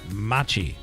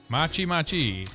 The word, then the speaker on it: matcha: It's matcha. Matcha green tea latte. And it will, well, Machi.